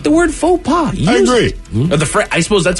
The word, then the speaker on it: faux pas: thing for me on that word is to spell it f-a-u-x-p-a-s exactly got it yeah that's a tough one that's the fox pass exactly it's pretentious because you spelled it wrong